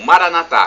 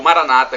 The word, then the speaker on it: Maranata: E agora eu clamo Maranatá, como dizemos nós católicos, ou Maranata, como dizem nossos irmãos evangélicos ou protestantes. Não importa a pronúncia, porque o significado é o mesmo.